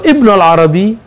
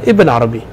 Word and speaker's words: Ibn Arabi: Jadi kita boleh mengatakan Ibn al-Arabi, boleh mengatakan Ibn Arabi. Kenapa? Dalam bahasa Maghrib Ibn Arabi tidak boleh illa bil alif wal lam. Dibacanya Ibnul Arabi. Tapi setelah beliau hijrah ke Damaskus, orang Damaskus menyebut Ibnul Arabi itu sulit. Maka taghayyar fahuzifat al alif wal lam. Maka dihapuslah alif dan lam. Gimana bacanya? Ibn Arabi. Jadi yang sahih Ibn al-Arabi wa Ibn Arabi kilahuma jaiz.